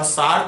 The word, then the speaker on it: Sartre: Okay, Jean Paul Sartre, or Sartre as it is pronounced, he was a French philosopher.